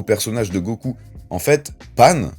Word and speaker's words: Pan: de Goku en fait pan donc le nom de sa petite fille en japonais s'écrit et se prononce exactement de la même façon que le pain et en japonais lorsque